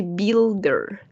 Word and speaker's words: builder: Aquí esta U no se va a pronunciar. We're going to say builder.